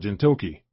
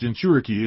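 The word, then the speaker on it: jinchūriki: You said something about gintoki or something. It's pronounced genturiki.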